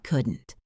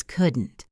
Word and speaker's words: couldn't: The word couldn't has a silent L. It is not couldn't. It is couldn't.